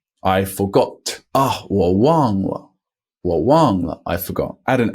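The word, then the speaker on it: 忘: plus no funny tricks it is actually the Ang the father a here a n g and it's spelled w and G as you may have guessed up until this point but I'm going to keep mentioning it so Wong is a fourth tone Wang means forget but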